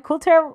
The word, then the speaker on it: Coulter: But anyways, he also he let Ann Coulter write for him.